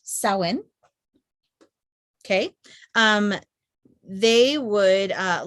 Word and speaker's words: Samhain: celtic festival of it's spelled samhain but it's pronounced so in okay um they would uh light bonfires and wear costumes to ward off ghosts um sally sawin is celebrated to welcome the harvest and usher